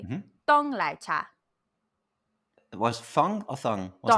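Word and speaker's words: 奶茶: So if you want it hot, you're just going to say lai cha. Lai cha. If you want it cold, you would say Mm-hmm. dong lai cha.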